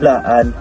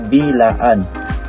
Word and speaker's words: Blaan: Pareho silang may bitong punem patinig at mas gugustuhin ng mga blaan na tawagin sila ng blaan kaysa bilaan dahil para sa kanila ang pagbigkas ng bilaan ay nangangahulugan ng kawalang galang.